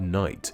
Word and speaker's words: night: The best example of this is with the word night, with its silent K at the start and GH in the middle.